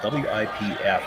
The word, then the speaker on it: Wipf: last name is spelled W-I-P-F, and I've had to look up pronunciations. I believe it's Wipf, but it sounds awfully close to Whiff, and I hate calling a skip Whiff.